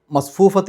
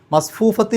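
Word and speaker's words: مصفوفة: നിർത്താതെ ഓതലാണ് ഏറ്റവും നല്ലത് ഇനി അവിടെ നിർത്തുകയാണെങ്കിൽ മസ്ഫൂഫ എന്നുള്ള അവസാനത്തെ ആ താന് ഹാത്ത ഉണ്ടല്ലോ അതിന് ഹാന് സുക്കൂന് കൊടുക്കുന്ന ഉച്ചാരണമാണ് കൊടുക്കേണ്ടത് അതായത് അത് സുക്കൂനുള്ള ഹാ എങ്ങനെയാണോ നമ്മൾ പറയുക ആ രൂപത്തിൽ മസ്ഫൂഫ ഒരു ചെറിയ ഹ് എന്നുള്ള ശബ്ദമാണ് അവിടെ കേൾക്കേണ്ടത് അതല്ലാതെ മസ്ഫൂഫത്ത് എന്നുള്ള രൂപത്തിൽ അല്ല ഇനി അവിടെ ചേർത്തി ഓതുകയാണെങ്കിൽ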